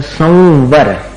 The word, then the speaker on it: संवर: संवर निर्जरा और मोक्ष संवर का उच्चारण कैसे करते हैं म करते हैं नहीं करते म संवर म जैसा उच्चारण नहीं है वो वो ऊपर के दांत और नीचे के होठ को मिलाकर अपन उच्चार उच्चारित करें संवर व में मिलाना पड़ता है अनुस्वार का